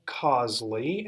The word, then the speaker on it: Causely: it it's reach by Causley and I'll spell it just think of the word cause CA u c l why so reach by Cosley is our Facebook page